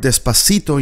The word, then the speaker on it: despacito: In Spanish, do the o doesn't have the sound o, but it sounds like an open o despacito.